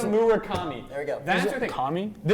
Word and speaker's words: Murakami: Munitaka.